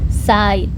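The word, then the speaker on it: Zeit: Jangan lupa e I itu dibacanya A i. Jadi side side side atau waktu.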